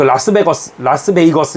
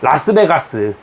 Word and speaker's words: 라스베이거스: 나는 10대 초반에 네바다주 라스베이거스 외곽에 그 라스베이거스 이렇게 그러니까 좀 이게 발음 라스베가스 여러분 한국식 언어로 라스베가스 땡기는 데 있잖아요, 그죠?